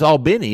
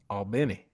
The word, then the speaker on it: Albany: georgia oh okay oh it's all benny is it not albany albany yeah that's how the yankees pronounce it hey you know what